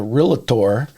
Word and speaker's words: Realtor: to list with a realtor. You better say it right. Realtor, yes. I get corrected all the time. I have to pull back my tongue when I say realtor, who uses video to sell their property.